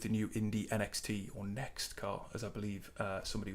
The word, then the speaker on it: NXT: And I'm looking to get on track with the new Indy NXT, or Next car, as I believe somebody was saying it's pronounced.